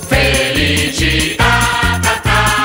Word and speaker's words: felicità: Felicità, l'accento sulla A.